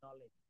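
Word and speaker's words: knowledge: যেমন এই শব্দটা একটু দেখ, এটাকে বলা হচ্ছে নলেজ। তো আমরা কি কখনো বলি কে, এটার উচ্চারণ কি করে? কে নলেজ বলি? বলি না। এই কেটাকে কিন্তু আমরা বাদ দিই, দেখেন নাইট।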